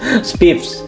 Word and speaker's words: SPIFFS: Tapi yang kita bahas adalah SPIFSS, SPIFS. Ya, bacanya SPIFS lah ya.